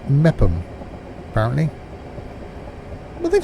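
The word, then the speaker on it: Meopham: It's pronounced Mepham, apparently.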